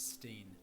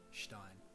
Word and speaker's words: Stein: English pronunciation steam as when two vowels are together in English the first one is pronounced to this day the